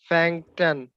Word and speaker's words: fängt an: Die Woche এটার উচ্চারণটা কি হবে? আপনি চেষ্টা করেন আগে, তারপর আমি কারেক্ট করব না। Fangtan.